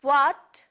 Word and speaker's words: what: The sound of this W letter is wa. Say with me, wa, wa, wa. It's not hua.